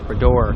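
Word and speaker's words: Bras d'Or: lock to get into the BR or Bor that's how you pronounce it Bor Lakes I'll get it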